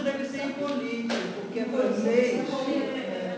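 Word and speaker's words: Hippolyte: inglês seria pro paroxítono como é francês a tendência é a tônica se deslocar para o final Então esse cidadão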